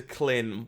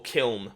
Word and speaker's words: Kiln: I would like to just stack up into Klin while... or Kiln, because I keep getting yelled at for the pronunciation of that one.